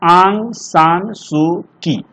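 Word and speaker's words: Aung San Suu Kyi: देखिए ये Burmese writer हैं, इनका नाम है आंग, लिख देते आप, इसको उच्चारण बढ़िया से कीजिएगा, आंग सान सू की, ऐसे इसको पढ़िएगा आप लोग।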